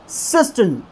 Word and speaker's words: cistern: और जब हम इसको प्रोनाउंस करेंगे तो किस तरह से करेंगे, सिस्टन सिस्टन सिस्टन सिस्टन, कुछ इस तरह से करेंगे।